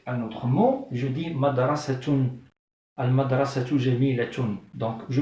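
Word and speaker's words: مدرسة: Mais quand je relis avec un autre mot, je dis madrasatun. Al-madrasatu jamilatun. Donc je prononce ta. Mais quand je m'arrête, je dis madrasah, madrasah. Je la prononce avec le son du ha.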